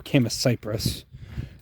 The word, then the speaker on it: Chamaecyparis: It does not that it matters how you pronounce it, but Chamaecyparis. I prefer Chamaecyparis.